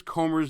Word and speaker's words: Comer: I mispronounced James Comer's name. I call him James Comey for some reason.